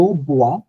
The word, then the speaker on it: bois: জো বোয়া, I drink, তু বোয়া, you drink, তুমি। ইল এল বোয়া, তিনটাই কিন্তু সাউন্ড বোয়া বোয়া বোয়া, জাস্ট বানানটা হচ্ছে আইএস আইএস আই টি, but sound same.